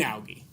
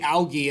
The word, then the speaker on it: algae: brown algae but green algae okay you're like why is he saying algae and not algae either both are correct but algae is the British pronunciation I'm feeling like pronouncing